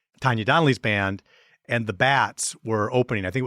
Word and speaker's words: Bats: area and of course being kiwi they pronounced their name the baits we the baits the bits that old Armory it